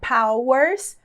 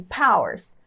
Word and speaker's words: powers: Power ou no plural Powers Powers né com essas duas sílabas bem separadas n na pronúncia ou também a gente pode falar bem fraquinha a segunda sílaba assim Powers Powers que é como